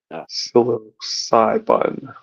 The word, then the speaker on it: psilocybin: Silicon psilocybin. Oh, okay. That's how you pronounce it.